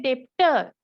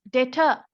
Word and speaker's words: debtor: a credit customer and when you pronounce you have to make b silent don't pronounce b some students say depther that's wrong okay it's data data right be silent are we clear so